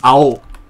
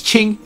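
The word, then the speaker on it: 青: for blue but um it's ao in japanese and it's qing in mandarin but ching is means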